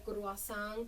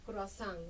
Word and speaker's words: croazán: De ahí sale la escritura de croazán con C ru eh a s a n croazán, ¿no?